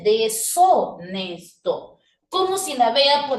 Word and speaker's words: deshonesto: Profe, pero ahí parece que dice dechonesto. Pero no puedo leerlo dechonesto porque la H es muda. Entonces, ahí dice deshonesto.